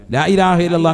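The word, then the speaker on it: لا إله إلا الله: ലാ ഇലാഹ ഇല്ലല്ലാഹു, അപ്പൊ ഒരെണ്ണമായി. ലാ ഇലാഹ ഇല്ലല്ലാഹ്. അവസാനം നീട്ടി ഹാന്റെ ഉച്ചാരണം കൊടുത്ത് തന്നെ നിർത്തണം.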